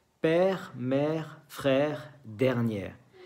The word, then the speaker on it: père: Père, mère, frère, dernière. Se ve que la última sílaba es una E que no se dice. No se dice re, ok, se dice r.